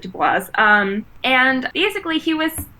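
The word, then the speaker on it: Du Bois: quote the other day he pronounces it dubois um and basically he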